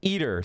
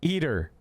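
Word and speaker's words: ITER: It became a key contributor to the 33 nation humor fusion experiment pronounced eater, sorry, eater.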